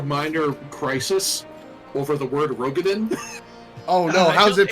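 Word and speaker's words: Roegadyn: crisis over the word Rogadin. Oh no, how's it pronounced? It's not even the first time they've said it. They've said it twice in the game now. Apparently it's Rugadine.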